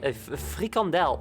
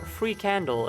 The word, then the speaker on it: frikandel: Or free candle, as I like to pronounce it, like an asshole. I don't pronounce it like that, I'm kidding.